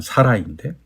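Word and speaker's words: Sarai: 근데 이제 히브리어로 발음한 사라이인데 사라이가 사라가 됩니다.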